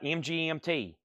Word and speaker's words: MGMT: name of the band is MGMT not management really the other night I was said it's management I love these false claims I think I get misled sometimes we have Bob Dylan so I pronounced that MGMT okay not management I think one night I was saying MGMT and someone's like that's called management it's like okay Christopher Morris